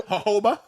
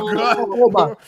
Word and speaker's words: jojoba: Jojoba? Jojoba. It's spelled Jojo, so you know Jamaicans pronounce H, so I gotta give it to him like. Oh, Jojoba.